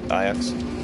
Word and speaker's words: Ajax: It's spelled Ajax, but it's Ajax. Like the football team.